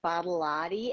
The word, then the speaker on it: Badolati: But my mom taught me to reverse Badolati and lot of body. And she said, if you tell people it's a lot of body and then just flip it, Badolati, people will pronounce it and they won't forget it.